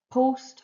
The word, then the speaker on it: post: a short o sound but ost is an exception to the rule and in post host most almost it's a long vowel sound you hear the o